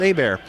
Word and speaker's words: Hebert: again spelled h-e-b ERT like Hebert but it's pronounced a bear and that's on Twitter Kyle a bear calms